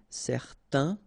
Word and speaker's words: certain: Okay, so it's nasal in your nose, un. Okay, if you add this at the end, then it will change the thing, and then you will pronounce it n.